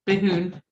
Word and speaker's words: Behoon: Sitting down there in the bottom is Nicole Leach Behoon. Is that how you pronounce it, Nicole? You have it right. It's Behoon.